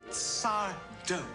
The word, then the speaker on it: Sardo: Sardo. No, mister. Accent on the dough.